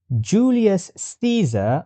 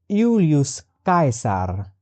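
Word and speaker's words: Iulius Caesar: Julius Caesar was pronunciated as Yulius Kaisar.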